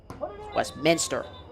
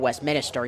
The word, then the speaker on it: Westminster: Westminster in Utah, not Westminster. You have to add the A there on the syllable.